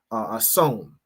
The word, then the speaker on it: Samhain: Halloween has its roots in the ancient Celtic festival of of hon, right, is how it's pronounced, which marked the end of summer and the harvest and the beginning of winter.